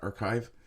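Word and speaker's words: arXiv: Uh, the paper was published on the 16th to the preprint server arcs. I I guess that's meant to be pronounced archive southwest news service reported uh,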